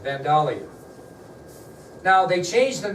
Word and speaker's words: Vandalia: at Vandalia by the way that's how it's pronounced Vandalia now they changed the name at that time